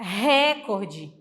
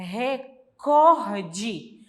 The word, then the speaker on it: recorde: falamos essa palavra pessoal o recorde não é a gente fala assim mas também está errado o correto é é recorde porque ela é uma